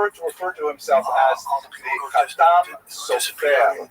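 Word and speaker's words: Chatam Sofer: That would be a Sephardi pronunciation, or at least a poor imitation of a Sephardi pronunciation, which means the seal of the scribe. Khatam Sofer, Sephardi pronunciation. Obviously, some of the consonants are slightly different, and the emphasis tends to be on the last syllable.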